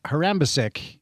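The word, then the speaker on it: Harambašić: Mier Her Mier Excuse me, Mier is a Harambasic. That's how you pronounce his name.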